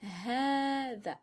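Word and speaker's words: هذا: Quand on prononce hadha, hadhihi et dhalika, après la première consonne, on entend une prolongation. On prononce bien hadha avec une prolongation. Et cette prolongation ne s'écrit pas.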